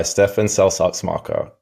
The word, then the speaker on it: Stefan Seltz-Axmacher: partner and on today's episode I'm joined by Stephan selar marker CEO and co-founder of polymath Robotics thanks for